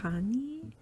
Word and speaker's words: Chani: And then the other one is spelled Chani, and I think you pronounce it like Hani or Hana, but her name is